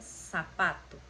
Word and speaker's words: zapato: não têm no espanhol, o som que eles têm é o som igual do S. Então é, por exemplo, sapato. Se escreve zapato, com seta, né, que é o Z, mas se pronuncia sapato, ok?